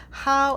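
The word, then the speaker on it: Hao: always end our practices by saying how three times how is spelled H a o and is a very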